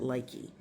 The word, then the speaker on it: Lykke: She called she pronounced it Lykee.